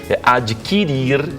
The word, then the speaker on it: adquirir: Adquirir, extinguir e distinguir. O U não é pronunciado. Não é extinguir, não é extinguir.